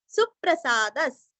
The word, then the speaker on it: सुप्रसाद: सुप्रसादस, अभी यहाँ पे सुरस्व पढ़ना है और सु के ऊपर आघात देना है। सुप्रसाद और विसर्ग का हल्का सा प।